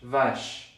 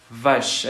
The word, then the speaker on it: vache: En el diccionario lo que ustedes van a ver va a ser una V, una A y una sh. Vache. Vache. Es ese sonido. Sh. Vache.